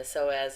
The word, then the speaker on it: psoas: this before again the soaz is spelled psoas here on the right but the P is silent and there is a